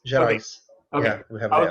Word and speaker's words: Gerais: Is the S pronounced in that? Yes, Gerais.